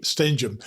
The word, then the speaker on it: Stenehjem: the show today although I do have a few issues pronouncing her name she just actually reminded what it is this is Beth Bary stenum Hey Beth thanks for